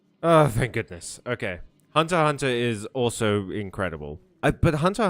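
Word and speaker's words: Hunter × Hunter: because Hunter Hunter u why isn't the X pronounced Hunter Hunter? It's just a Japanese thing I believe.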